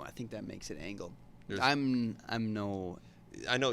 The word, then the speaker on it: Angell: How do you pronounce it? Yep. She said Angel.